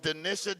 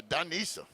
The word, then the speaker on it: Denisha: Coach Denisha. Did I say it wrong? Danisha? I'm sorry, Danisha. Say it like you're from New Orleans, Danisha.